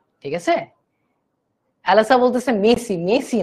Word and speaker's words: merci: ঠিক আছে, অ্যালাসা বলতেছে মেসি, মেসি না, অ্যাকচুয়ালি ওটা MERCI, বাট আরটা ফ্রেঞ্চে উচ্চারণ করা হয় না।